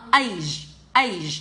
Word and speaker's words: age: Tôi không đọc là s nhá, nó là age. Trong tiếng Anh thì mình không ấm e, để làm a.